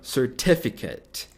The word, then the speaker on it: certificate: Não é Kate. É kit.